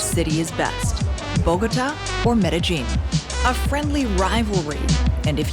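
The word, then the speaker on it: Medellín: just get this out of the way it's pronounced metagene I know I've been saying medin my whole life and you probably were too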